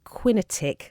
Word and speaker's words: QinetiQ: There's a site called Quinetiq. I'm probably saying that wrong, but it's spelt QINETIQ.